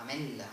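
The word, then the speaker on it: ametlla: Amella, almendra, se escribe TL, amella, ¿no?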